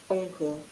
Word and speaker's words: encore: Encore. Encore. Encore. சோ ஏ ஆக்கிட்டாங்க. Okay. Encore. நோட் பண்ணிக்கிங்க. என்கோர்ங்க ENQR வந்து ஆன்கோர் படிப்போம்.